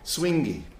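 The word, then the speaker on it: suingue: And I wanted to just tell you a little bit about this thing that the Brazilian call swingy. They actually spell it S-U-I-N-G-E.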